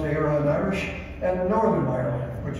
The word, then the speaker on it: Éireann: Ireland, pronounced Éireann Irish, and Northern Ireland, which is part of the United Kingdom.